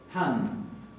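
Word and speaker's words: hann: Después tenemos, para la tercera persona, han. Y fíjense que acá la doble N se va a pronunciar como una doble N. Han.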